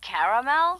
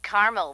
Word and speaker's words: caramel: getting caramel oh the caramel yeah that's what I said Tina actually you said caramel when it's pronounced caramel can't we just call